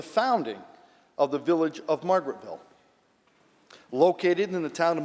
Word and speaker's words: Margaretville: of the village of Marguerite, New York. Senator Oberacher on the resolution. Thank you, Madam President. And just as a point of order, it is pronounced Margaretville.